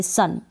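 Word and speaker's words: sun: Side भी consonant, और बीच में अगर यू आ रहा है तो यू को हम अ पढ़ेंगे, सन।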